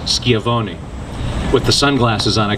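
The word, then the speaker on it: Schiavone: that yesterday with Francesca I now realize it's pronounced skiavoni with the sunglasses on I could not make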